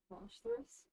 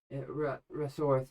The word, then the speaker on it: Russworth: Okay, you must be Roshthorus. Russworth. Yeah, Russworth? just call me Russ.